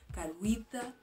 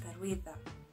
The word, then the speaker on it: Karewitha: I know most of the people usually say Karewitha, but it's pronounced Karewitha.